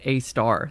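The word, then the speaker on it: Sagittarius A*: the Empire 4, Apprentice Sagittarius A, which I learned is actually pronounced a star.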